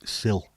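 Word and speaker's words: sild: You call herring sill. The D is silent.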